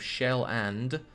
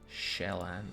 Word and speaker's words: Schweland: Please pronounce Schweland correctly before burning it. The pronunciation of Shell-and, but without the D at the end. Shell-and.